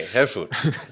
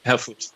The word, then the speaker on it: Herfuth: Herfuth. Herfuth. Herfuth. Yeah, just forget about the last H and you're fine. Okay, Herfuth. Okay. Herfuth.